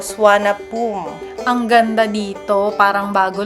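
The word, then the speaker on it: Suvarnabhumi: Subarnabumi ang basa pero swana poom.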